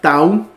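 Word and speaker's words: tau: en sudor luego tenemos la la Town que es la t como en tratar como en tomate luego tenemos la upsilon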